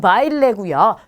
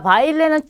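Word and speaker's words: baile: 자, 바일레는 춤을 뜻하는 단어인데 끝이 모음으로 끝났어요. 그러면 끝에서 두 번째 모음의 강세가 온다라고 배우셨어요. 자, 그래서 두 번째로 갔더니 아와 이가 한꺼번에 왔어요. 자, 그러면 이중 모음이겠죠. 자, 아는 우리 강모음에 해당하고, 자, 이는 양모음에 해당해요. 그럼 둘 중에 강모음에 강세가 오겠죠.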